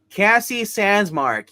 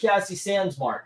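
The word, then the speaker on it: Cassie Sandsmark: I don't remember her Cassie sansar you Heathen that's it Cassie sandmark you keep saying it wrong Zach's gonna attack you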